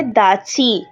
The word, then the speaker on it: datshi: আমরা যদি ইংলিশে বানানটা দেখি তাহলে নাম হচ্ছে EMA, এমা, DATSHI। তাহলে উচ্চারণ অনুযায়ী দাচি হওয়া উচিত, কিন্তু ভুটানিজ ভাষায় এটাকে বলা হয় দাচি।